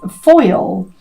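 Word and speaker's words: faol: Um so the meaning of wolf uh the way it's pronounced in this um druid animal deck is foil and it says that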